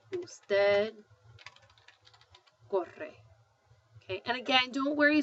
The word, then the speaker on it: usted: instead which is abbreviated UD and it's still pronounced usted I've had students before call it Ood but um it's not it's not food it's usted I like to work out very well and